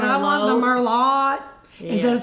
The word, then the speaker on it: Merlot: She suggests Chardonnay, but he orders the Merlot, mispronouncing the wine with a T at the end.